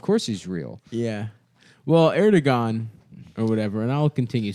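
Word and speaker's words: Erdoğan: Erdogan? Yeah, that's his name. That's how you pronounce it. How do you That's say his name? Erdogan.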